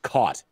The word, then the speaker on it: caught: of like so um the way I pronounce it is that the the bed is like c-a-h-t cut um but the but like the catching something is like c-a-w-t caught and so here's the